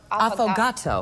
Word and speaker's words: affogato: gonna get you a few more this is pronounced often affogato focaccia what is this it is an Italian